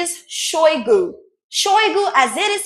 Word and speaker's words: Shoigu: He went and wrote it as if he's a Frenchman because CH in French is pronounced sh. It's not ch, so they wrote CHOI, which is choi, then GOU, which is oo, their own oo in French, OU.